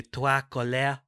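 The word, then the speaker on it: Trois Couleurs: us about the three colors trilogy or the tuakole trilogy or and spoken spoken like a man who's googled how to pronounce pronounced three colors in french tuakole or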